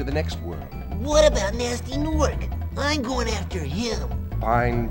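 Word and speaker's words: Gnasty Gnork: It's not Ganasty Gnork. Yeah, you don't pronounce the G. It's just simply Nasty Gnork.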